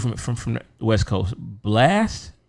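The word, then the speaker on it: Blxst: r b pop artist uh how are you pronounced dude from from the west coast blast blix yeah blast last okay chris brown uh jivion lucky day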